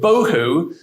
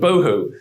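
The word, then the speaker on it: בֹּהוּ: And the word bohu, that's the void. It rhymes with tohu and bohu.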